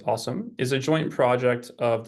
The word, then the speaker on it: OSoMe: observatory on social media which we pronounce the uh acronym there as awesome is a joint project